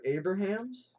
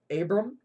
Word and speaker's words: Abraham: okay wait there's two Abrahams Abram Abra I'm saying it wrong it's Abraham all the substitute teachers be like Abram uh it's Abraham oh okay yo but